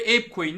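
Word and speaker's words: ApeCoin: arkadaşlar evin yani arkadaşlar ape diye yazılıyor ap coin diye okunuyor maymunların nfteleri oldukça gözenöz'e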